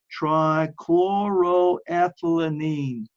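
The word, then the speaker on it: trichloroethylene: how to spell it just verbalize it okay it's try chloro aine all right and and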